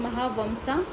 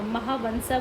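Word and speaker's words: Mahavamsa: पहला है महावंसा जो एम जो होता है उसको एन की तरह प्रोनाउंस करते हैं जिसको वहां महावंसा बोलते हैं एंड सेकंड था मिलित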